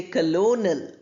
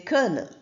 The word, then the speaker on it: kernel: we have the word kernel we don't say colonal usually we say kernel then we have jeopardy je not geopod then we have people not pop.